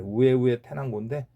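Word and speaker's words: Huehuetenango: 뭐 후에우의 태난고라고 하는데 H가 스페인에서는 발음이 안 되거든요. 그래 우에우의 태난고인데 아 거기는 또 스모키한이 나지 않는다고 합니다.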